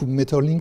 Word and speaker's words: Maeterlinck: tout de suite maurice maeterlinck metals suivant qu'on cherche à s'approcher ou non de la prononciation flamande maurice maeterlinck d'un grand poète symboliste